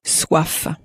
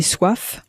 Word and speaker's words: soif: Je voudrais préparer le café, The word for thirst in French, thirst, is soif, soif. So how do you think you'd say, I am thirsty in French? Literally, I have thirst. J'ai soif, And do you remember what the word for because was?